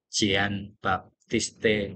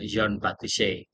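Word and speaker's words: Jean-Baptiste Say: Ee karena ini adalah tokoh dari Perancis biasanya ee di dalam bahasa Indonesia pengejaannya adalah Jian Baptiste gitu. Nah, tetapi akan kita apa ucapkan dengan Yon Batise.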